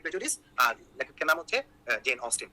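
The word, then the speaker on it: Jane Austen: তো তখন সে বলতেছে প্রাইড এন্ড প্রেজুডিস লিখেছেন জেন অস্টাইন, মুখস্থ করতেছে এরকম। তো অ্যাকচুয়ালি উচ্চারণটা হচ্ছে প্রাইড এন্ড প্রেজুডিস, আর লেখকের নাম হচ্ছে জেন অস্টিন।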